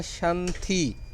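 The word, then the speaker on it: 身体: मैंने आपको बताया था कि टी जौन सा है चाइनीज़ के अंदर प्रोनाउंस होता है थी से, थी, तो ये बनेगा थी, TI, थी, थी।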